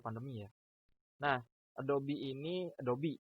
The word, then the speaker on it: Adobe: sepuluhnya Photoshop Oktober padamu ya Nah adopsi ini Adobe dibacanya ya bukan redup Kebanyakan orang kedopok juragan yang